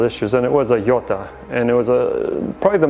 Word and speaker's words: Jota: These are the Jota ones, it's spelled J-O-T-A.